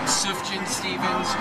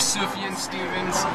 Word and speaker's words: Sufjan Stevens: you say his name sufjan stevens or sufian stevens everyone pronounces it a little bit differently but decatur is like